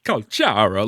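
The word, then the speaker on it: Calcharo: Calculator's real name isn't actually pronounced properly. Kalchara, like Lumi, exactly.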